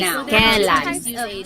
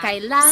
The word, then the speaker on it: kailan: You might hear some people say kailan. Sounds like an E, but it's technically spelled with an AI.